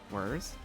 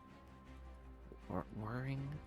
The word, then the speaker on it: whir: Whirring? Whirring? Am I saying it wrong? I feel like I'm saying it wrong. It's WHIR. There's no E. Whir.